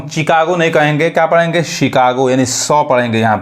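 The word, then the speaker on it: Chicago: और समझ में एक और एग्जांपल देखिए, अब यहाँ पे इसको हम चिकागो नहीं कहेंगे, क्या पढ़ेंगे, शिकागो, यानी 100 पढ़ेंगे यहाँ पे।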